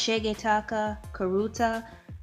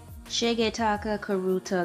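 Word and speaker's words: Shigetaka Kurita: I believe it's pronounced Shigetaka Karuta.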